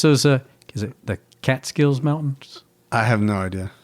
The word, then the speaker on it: Catskills: by the what's those uh is it the Catskills Mountains? I have no idea. What's that called? I know that's in New York, but Yeah. Did I say it right? The Catskills.